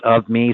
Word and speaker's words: OVME: start thinking about it of me it's pronounced of me so it sort of